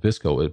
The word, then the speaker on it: VSCO: And one of the popular ones that's out now is called Visco, but it's spelled just VSCO.